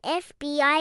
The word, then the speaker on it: FBI: What about an FBI agent? F is a consonant, but we pronounce it F. That starts with a vowel sound, so it's an FBI agent.